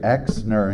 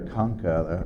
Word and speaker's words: Kunka: He said Exner instead of Kunka.